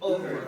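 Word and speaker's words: oeuvre: word, y'all gotta say it for me, O-E-U-V-R-E, over, right? Over. I know there are like 5 different pronunciations of the, is that cool?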